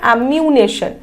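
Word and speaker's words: ammunition: চলো next question, recognition, স্ট্যাগনেশন, ডেফিনেশন, অ্যামিউনেশন।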